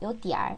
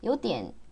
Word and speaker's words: 有点儿: 요디알. 어화를 쓰느냐 안 쓰느냐의 차이고요. 요디알. 그래서 일반적으로 북쪽 사람들이 어화 발음을 굉장히 선호해요.